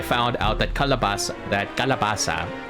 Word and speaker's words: calabaza: out that calabas that calabasa how we pronounce it is um similar to the Spanish named calabaza so that one is c-a-l-a-b-a-z-a kalabaza and that one is